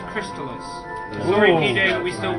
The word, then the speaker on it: Crystalis: It is pronounced Crystalis.